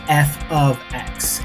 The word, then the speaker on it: f(x): F times X. No. For whatever reason, when people invented math, they decided to have this thing called function notation, which is pronounced, or rather said, as f of x.